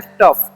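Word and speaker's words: tough: टफ। इसे हम लोग क्या पढ़ते हैं? टफ। उसे टाउ नहीं पड़ता है।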